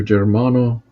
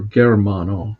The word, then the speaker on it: Germano: director, a priest, Father Germano, or Germano. Some people pronounce it that way, but I think the correct Italian pronunciation is Germano, Ruopolo.